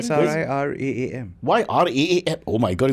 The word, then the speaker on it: Sriraam: R-A-M and R-double-A-M Spell it. says the same SRIRAAM.